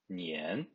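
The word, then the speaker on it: 年: apprendre le mot année le mot année en chinois se prononcent ni haine le mot cette année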